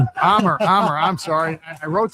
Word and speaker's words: Amer: Right now, my guest is Amir from HTY Law in Detroit. Yep. It's pronounced Omar or John? Omar Omar, I'm sorry.